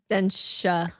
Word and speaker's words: Denshattack: It's pronounced Denshattack, right? Denshattack. Denshattack. Densha, it means train in Japanese.